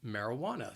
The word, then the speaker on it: marijuana: it's it's called marijuana the word has four syllables and the stress is on that third syllable it that wa marijuana so say this word with me i'll say it slowly marijuana that second and fourth syllable you hear that schwa that uh marijuana so keep in mind that the spelling is nothing like the pronunciation that third syllable that wah that is the stress marijuana marijuana it's marijuana